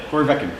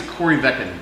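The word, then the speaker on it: Corryvreckan: Corey Veckin. No, I think it's Corvecken is how they pronounce Yeah. it. They don't pronounce the R.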